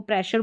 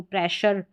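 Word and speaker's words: pressure: तो इसमें आपको याद रखना है कि PRE प्रे हो गया और शर के लिए हम SURE लिखते हैं, तो ये आपको याद रखना है इसको, प्रेशर, ठीक है, प्रेशर की स्पेलिंग याद रखनी है।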